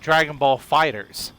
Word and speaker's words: Dragon Ball FighterZ: even said it wrong it's called dragon ball fighters but it's spelled dragon ball fighter z so you would think